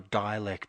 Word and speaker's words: Dälek: Yes, yeah, his name is MC Dälek, or, technically speaking, you can pronounce it Dälek or Dialect, but yeah, we were pretty fortunate to kind of get an interview with this guy.